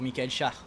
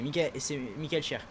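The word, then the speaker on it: Michael Schär: Ça se prononce cher pour Michael Char c'est Michel Cher et franchement juste avec c'est quelle étape encore ?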